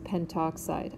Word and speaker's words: pentoxide: We drop the A and that becomes pentoxide. I actually would not mark that wrong as a spelling error if you did have the A, but you'll get the hang of these. If you know how to say it, it helps you spell it. So disulfur trioxide versus dinitrogen pentoxide. So you'll notice I'm not pronouncing the A.